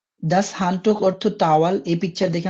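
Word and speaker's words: das Handtuch: আবার দেখি এই শব্দগুলো দাস হান্ট এই শব্দটির প্রোনাউন্সিয়েশন দাস হান্টুক অর্থ টাওয়াল এই পিকচার দেখে আমরা বুঝতে পারতেছি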